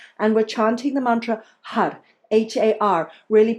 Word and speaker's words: Har: we're chanting the mantra H A R Really pronouncing that R like an L or a D Flicking the tongue up against the upper pallet Har Har Har The